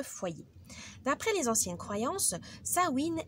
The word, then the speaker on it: Samhain: d'après les anciennes Croy sawin est un mot gaili qui se prononce donc sa win qui signifie fin de l'été ou feu de paix